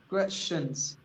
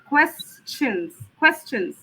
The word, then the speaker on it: questions: So I should hear the quest first and then the sh sound, not the sh first. Questions. Questions. Questions. quest, questions.